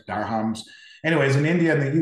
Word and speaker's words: dirham: United Arab Emirates for deer comms I believe it's pronounced I'm not exactly sure how to pronounce it but it's d-i-r-h-a-m-s deer hams Dar hums anyways in India in